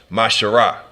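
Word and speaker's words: מעשר: verse 8 through 10 means 10th in Hebrew and it's pronounced mashara ten percent of every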